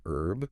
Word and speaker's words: herb: So like the word herb. Mhm. In the UK that H is silent, but in the US it's not interesting.